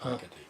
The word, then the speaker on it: Marchetti: You're pronouncing it correctly too. It's Marchetti.